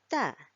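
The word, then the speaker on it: ت: So the way we pronounce Ta is by putting our front part of our tongue to the front upper front teeth, sorry.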